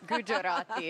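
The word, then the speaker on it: Gugerotti: Gujarati. Guugerati. What's the Which one of you is right? Gujarati. Gujarati is right.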